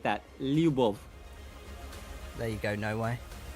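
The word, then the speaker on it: любовь: And how do you pronounce it? Lub. Say that again. L Y U B O V. Like that. Lub.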